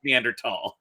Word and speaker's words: Neanderthal: the B are found in but it is pronounced Meander tall I'm gonna go into something a little controversial